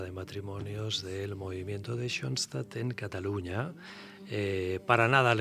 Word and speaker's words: Schoenstatt: ¿Lo he pronunciado bien? Schoenstatt, perfectamente.